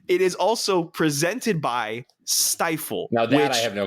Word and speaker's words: Stifel: But not only, Tyler, is it the Jimmy Kimmel Bowl, it is also presented by Stifle.